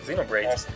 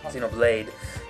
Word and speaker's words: Xenoblade: I was getting my pronunciations wrong on that. Xenobraids, Xenoblade.